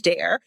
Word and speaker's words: Daré: No. No. Go by both because it's Dar or Dare.